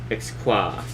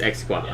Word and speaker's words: XQA: Xqua. Okay, everyone says it's Xqua. Xqua. It kind of almost sounds like a martial arts move, right? Like Xqua.